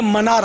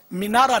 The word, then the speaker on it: منارہ: بہرحال یہ کہ وہ لفظ تلفظ صحیح جو ہے نا، یہ منارہ ہے لغت کے اعتبار سے، مینارہ نہیں.